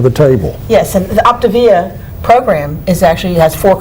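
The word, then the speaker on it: Optavia: camera and tell them the name because i've mispronounced it it's called optivia yeah o p t a v i a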